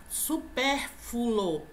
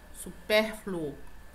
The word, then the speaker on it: supérfluo: ser podia correr acatado supérfulo é isso aqui é supérfulo negativo a pronúncia correta é super flúor tá não é furo é Flu supérfluo bicicleta pronúncia correta bicicleta